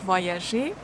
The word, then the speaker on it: voyager: Voyager. Y. You can see this letter as actually 2 letters E. 2E. The first one goes with O. O-E give us wa sound. So we start voix, voix.